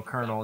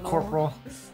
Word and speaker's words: colonel: had my helmet on it took me a long time before I knew that you actually pronounced that as you know Colonel instead of Corporal good job so and like Colonel Sanders colonal corpal oh no no no